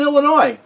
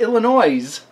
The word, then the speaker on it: Illinois: in uh it's not Illinois you don't pronounce that S at the end of it it's just Illinois but it kind of